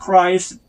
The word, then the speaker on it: Christ: A slave of Christ에서 여기에 t는 약하게, Christ, 아주 약하게 발음이 합니다. Christ 하지 말고 Christ. 아주 이렇게 하고 t는 아주 그냥 끝에서 약하게 발음나요.